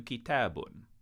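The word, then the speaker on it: كتابٌ: I have to add this special little character above the word kitab, and I'm going to change the pronunciation of kitab to kitabun.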